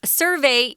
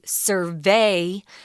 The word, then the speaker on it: survey: there was a survey survey is the noun pronunciation but you'll often hear people say survey as the verb form so be careful with